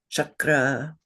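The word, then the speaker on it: cakra: unaspirated letter which is the first column that is always pronounced cha. So we know the words in Sanskrit you have probably heard them chakra.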